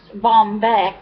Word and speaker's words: Baumbich: to say that word Charlene and Bombeck whatever pronounced Bombeck oh okay yeah but